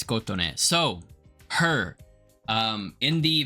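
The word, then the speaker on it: Kotone: koton yo let me figure out how to pronounce it yeah it's koton so her um in the vision MV for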